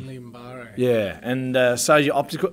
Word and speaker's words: Guillain-Barré syndrome: And I presented myself at hospital, and it took a few days, but I got diagnosed with Guillain-Barré syndrome.